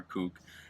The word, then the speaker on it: CUC: in Cuba the CUC which is pronounced coupe is the currency code